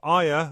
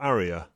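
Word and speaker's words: Arya: This is pronounced differently by different people. Aya or Aria.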